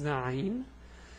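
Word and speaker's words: عين: So this is Ayn. The pronunciation is A, U, Ay.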